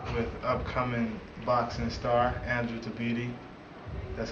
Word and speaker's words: Tabiti: Zach Cooper here with upcoming boxing star Andrew Tabiti. That's how you pronounce it, right?